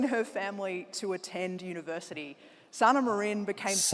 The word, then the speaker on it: Sanna Marin: Sana Marine became Sana Marine.